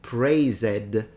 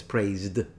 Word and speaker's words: praised: will say something like also I don't say prey said as a praised I'm like actually no that's praised so there is a third